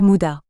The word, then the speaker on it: muda: toutes ses formes ou muda 4 en japonais prononcé mudda gaspillage dû à la